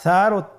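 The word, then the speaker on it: ث: সা হরফটি বারিক মানে পাতলা করে উচ্চারণ করতে হবে। তাহলে আমরা এখন সায়ের মাখরাজ লক্ষ্য করি। সায়ের মাখরাজ কোন জায়গা থেকে? স্ক্রিনে দেখা যাচ্ছে। সা হরফটির মাখরাজ হলো উচ্চারণের স্থান জিহ্বার আগা সামনের উপরের 2 দাঁতের আগার সঙ্গে লাগিয়ে উচ্চারিত হয়।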